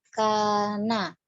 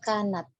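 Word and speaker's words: كانت: tadi terputus atau bagaimana, saya terdengarnya faman kana, seharusnya kanat ya. Kalau Uhti membacanya kanat ya itu betul, tapi kalau kana kurang tepat ya. Nah, Uhti tadi bacanya apa? Kana atau kanat? Kana, yang benar itu kanat. Ya, yang betul kanat.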